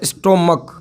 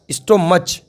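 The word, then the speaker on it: stomach: बोलते हैं अंग्रेजी में स्टोमक। स्टोमक, ठीक है, और इसको पढ़ते हैं लोग स्टोमच। स्पेलिंग जरूर स्टोमच जैसी है, परंतु इसका बोलना जो कहलाएगा वो कहलाएगा स्टोमक।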